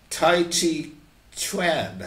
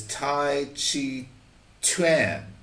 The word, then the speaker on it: taijiquan: Tai Chi Chuan, I think is how they say it. They don't say Tai Chi. It's Tai Chi Chuan.